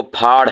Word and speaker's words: پھاڑ: لوگ لکھ دیتے ہیں پہاڑ کو دو آنکھوں کے ساتھ والی جو ہا ہے اس کے ساتھ، تو وہ پہاڑ نہیں ہے، وہ پھاڑ ہے۔ سمجھ رہے بات کو؟ یعنی دو آنکھوں کا تلفظ اور ادائیگی اور لہجہ اور ہے، اور جو ڈنڈے والی